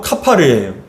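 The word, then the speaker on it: כָּפַר: 근데 칠하라 했을 때 칠하라는 건 히브리어로 카파르예요. 그러니까 여러분 이 히브리어대로 발음대로 표현을 한다면 14절이 고페르 나무로 방주를 만들고 코페르로 안팎을 카파르하라라고 얘기합니다.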